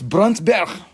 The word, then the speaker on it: Brandberg: Stone huge size from brantberg brandenburger it's bronzeberg that is how you say it is brown bear you